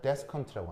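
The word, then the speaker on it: desiccant: 발음하면 데스컨트라고 합니다. 얘가 건조제입니다.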